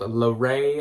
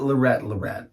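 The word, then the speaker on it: Leret: here but it is spelled l-e-r-e-t-l-e-r-e-t to the folks from the Midwest it is not Loretta red no as I once previously thought yeah also if you're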